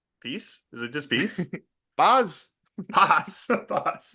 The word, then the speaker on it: paz: Paz.